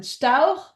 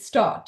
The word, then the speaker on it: Storch: So being raised in Germany, I would pronounce it Stauch, but the anglicized version of the name is Storch.